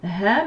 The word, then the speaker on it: ح: Alors, si vous voulez avoir une idée de prononciation, et ben quand on dit ha ha ha ha ha ha ha, d'accord, on serre un petit peu le fond de la gorge, et donc c'est totalement différent du ha, ha et ha.